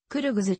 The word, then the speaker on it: クルグズ: を使用するが中央アジアの研究者には正確な発音に近いクルグズと表記すべきとの声もある政治